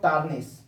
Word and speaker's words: tarnish: फिर fourth word देखते हैं हम लोग टार्निश। टार्निश, TARNISH, टार्निश, TARNISH, टार्निश इसको पढ़े हैं, टार्निश। आर को स्लाइटली साइलेंट करके प्रोनाउंस करेंगे, टार्निश, टार्निश।